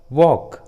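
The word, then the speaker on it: walk: जब भी किसी इंग्लिश वर्ड्स में एल, ए या ओ या यू के बाद आता है तो एल साइलेंट होता है, एल का उच्चारण नहीं करते, जैसे हाफ, टॉक, वॉक, बाम।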